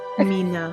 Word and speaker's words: Mina: It's Mina. Mina. It rhymes with your name. Ula. Mina.